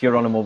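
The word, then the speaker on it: Gerónimo: wasn't it yeah yeah geronimo your animal isn't the isn't that g pronounced like the h yes geronimo or for them it's your animal but every time i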